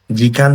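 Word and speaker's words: 時間: For example আইদা মানে হচ্ছে between বা মধ্যে, জিকান মানে হচ্ছে সময়, এই জিকানের কানটা হচ্ছে এই কাঞ্জিটা, ঠিক আছে।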